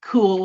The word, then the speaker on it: cool: undergone its own evolutions, including cool with a K, the hyperpronounced cool with the EW in the middle, and cool with a clipped L at the end.